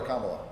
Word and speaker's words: Kamala: name this is important is it camel or kamala yes it's the latter it's like comedy punctuation and it sounded like